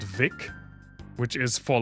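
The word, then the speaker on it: Vicks: And it's supposed to be pronounced like a W, like Vic, and not like an F, which is thick.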